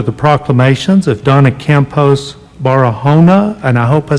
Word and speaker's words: Barahona: And today, we have a very special Donna Campos Barahona. Did I say it right? Barahona.